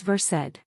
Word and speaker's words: Versed: Second, the brand name is Versed. It is spelled the same as the real English word versed, but it is pronounced differently here.